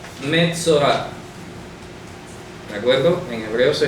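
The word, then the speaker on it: מצורע: Metzorah. Metzorah. ¿De acuerdo? En hebreo se escribe Mem Tzadei Reish Ayin.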